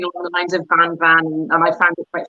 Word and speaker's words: vin: well so vin so vin in french is wine and you would pronounce it van and so combine that